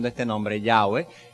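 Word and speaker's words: Yahweh: este nombre ya ve la explicación corta es ese es el nombre de jehová ese es el nombre de dios o una una aproximación a lo que era la pronunciación original del nombre que nosotros tenemos en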